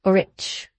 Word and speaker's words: rich: "Our English adverbs do not terminate in mong, and we pronounce the ch as if there were a t before it. We say rich."